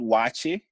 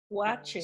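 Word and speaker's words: Waakye: And it's called wache. Wache. So yeah, wache. So if we're trying to spell it in English, you do WAACHE, wache.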